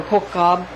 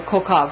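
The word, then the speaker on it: כוכב: Some say a B instead of a V for Kokhav or Kokhav. You can use a B or a V when you're pronouncing that, because it's kind of the same when you're utilizing that Hebrew word.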